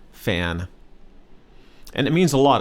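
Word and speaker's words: แฟน: significant other in Thai fan one syllable word fan and it means a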